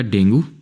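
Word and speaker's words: dengue: doctor से हो जाएगा डेंगू या डेंगी जो भी आप प्रोनाउंस करो एम से मीजल्स जिसको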